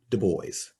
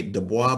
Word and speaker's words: Du Bois: Du Bois. And some folks say DuBois, but it's not. Actually, there's a seminal document that I found where W.B. Du Bois actually said, and he gave the phonetic pronunciation of his name.